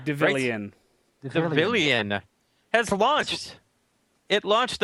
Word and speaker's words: Devilian: Citizen I'm done okay lener how do you pronounce this devilian deilan deilan has launched it launched on December 10th